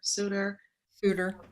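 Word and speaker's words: Souter: Suitor. How do you pronounce it actually?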